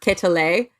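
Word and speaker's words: Quetelet: lambert adolf jacques i think it was it's pronounced catalay q-u-e-t-l-q-u-e-t-e-l-e-t so he was imaginative that's good uh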